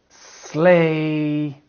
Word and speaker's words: sleigh: Sleigh, wait.